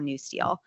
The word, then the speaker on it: NUSTL: It's called the National Urban Security Technology Lab, or NewSteel. We were just talking earlier about how people are serious about their abbreviations. NewSteel is like NEW-Steel. That's the correct way to say it.